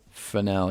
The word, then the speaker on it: Fresnel: Anyway, uh the constant f um uh the weird Yeah, the weirdest word in the industry pronounced fel. Yeah, that is written as Fresnel.